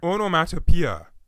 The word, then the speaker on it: onomatopoeia: The pronunciation of the word, however, is slightly less easy to understand because more than half of the 6-syllable word's 12 letters are vowels, and 5 of them are blended together at the end. Say what? O, no, on, o, mat, o, p, a.